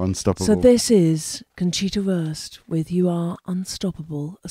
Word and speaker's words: Wurst: It sounds like worse for the worst. Conchita well, it's like for a the sausage, worst. isn't it? Wurst.